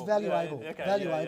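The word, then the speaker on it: Value.able: recommend the book uh value able is that how you pronounce it is it's valuable i've always wanted that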